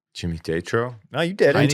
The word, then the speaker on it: Jimmy Tatro: I'm gonna say that name wrong. Jimmy Tatro.